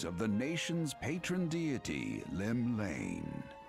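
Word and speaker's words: Llymlaen: drawn the gaze of the nation's patron deity lim lane pronounced it right what realm shaking fate has she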